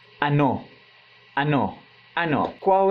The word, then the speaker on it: ano: Igual ano, mas a pronúncia é ano.